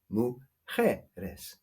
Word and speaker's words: mujeres: Yes, the stress is on the je, mujeres.